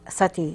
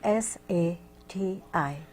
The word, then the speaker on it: Sati: Yes, and there used to be a custom called sati in India. More than Spell that, I'm sorry. S-A-T-I.